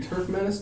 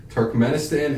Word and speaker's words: Turkmenistan: no Uzbekistan is there two Turf Menace nope that's Turkmenistan and taziki stand yeah